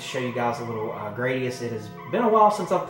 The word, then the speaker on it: Gradius: That is Gradius or Gradius, however you want to pronounce it. I pronounce it Gradius.